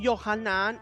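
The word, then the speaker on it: יוחנן: perdón de los pecados Juan en hebreo se pronuncia johanan y significa hashim fue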